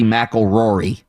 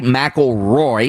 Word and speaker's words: McIlroy: won rory rory mcilroy i always say rory mcilrory it's rory rory mcilroy is that how you